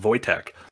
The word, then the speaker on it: Wojtek: But Wojtek was one of the people, Wojtek, and I know it's pronounced Wojtek because there's a famous bear during World War II.